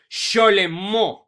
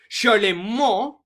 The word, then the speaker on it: Charlemagne: Now, this guy's actual pronunciation of his name is pronounced just like this. It is Charlemagne, because Charlemagne was born in a place that today we call France.